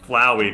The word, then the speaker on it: Flowey: really angry at me because to quote the pronunciation is flowy yeah it's definitely flowey because he's a flower that's probably legit they were legit angry at me to be fair I've always called it flowy too until this exact moment when I didn't